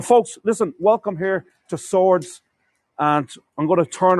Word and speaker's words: Swords: s w r DS the W came uh into the word after the settlement of the English who wrote the name sword or swords s We R DS but do pronounced swords now St colum kill